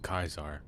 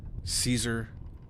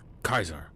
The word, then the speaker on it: Caesar: this game is pronounced Kaisar is because in Roman times, uh, the C was pronounced was pronounced Excuse me. So the C was pronounced as a hard C. Instead of Caesar, it's Kaisar.